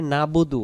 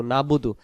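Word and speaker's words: نعبد: আর যখনই আমরা পড়ি নাবুদু নুন জবর না বা পেশবু দাল পেশ দু নাবুদু নাবুদু শব্দের অর্থ আমরা এবাদত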